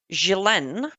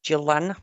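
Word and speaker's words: Ghislaine: So, uh, let's start with Gilen Maxwell. I know probably here you pronounce it Jalen or Gillan. I don't know. That's Jalen Maxwell.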